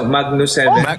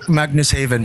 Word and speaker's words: Magnus Haven: po kayo manus heaven Paano niyo pronounce magnus heaven magnus haven po haven Ano yun tagalan Rizal